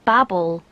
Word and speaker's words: Babel: because Babel I'm pretty sure is the English pronunciation and Babel is American and I assumed at first that